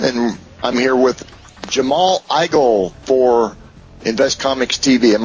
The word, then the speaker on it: Igle: is Rick Osman and I'm here with Jamal igel for invest Comics TV am I pronouncing that correctly Jamal you you got it